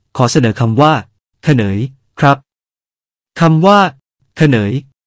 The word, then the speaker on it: เขนย: เขนย (ខ្នើយ) ครับ คำว่า เขนย หมายถึง หมอน ออกเสียงว่า คะเนย พูดกันเป็นประจำอยู่จนถึงทุกวันนี้ เขนย ใช้กับหมอนทุกประเภท ทั้งหมอนรองนั่ง